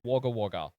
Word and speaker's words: Wagga Wagga: rural City uh called waga wager literally w a wga uh twice is uh the way that the city is pronounced so the gentlemen are